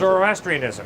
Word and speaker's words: Zoroastrianism: I can't exactly Yeah, pronounce it. Zoroastrianism, yes?